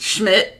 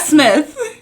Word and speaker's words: Schmidt: Like, Schmidt. Yeah. Not Smith. No. Schmidt. Yeah. Not shit. Schmidt.